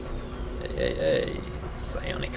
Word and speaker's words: psionic: Look at that poor stupid alien trying psionic to... Psionic labs available for construction. The P is silent.